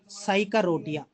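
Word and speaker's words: Psychotria: I already told you साइक रोटिया सर पी है ना पी साइलेंट सो इ starts from S only so साइक रोटिया नॉट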